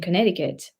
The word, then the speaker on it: Connecticut: it was so yeah in Connecticut 3C but you only pronounce two of them and it was great